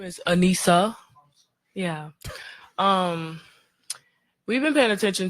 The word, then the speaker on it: Anissa: Her name is Anissa, right? As she corrected the guy to say. But if you see the way it's spelled, it could go either way. It could go Anisha or Anissa, or I mean, like,